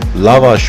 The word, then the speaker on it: lavash: used for this and that's lavash bread or lavash bread as it is properly pronounced now let's get into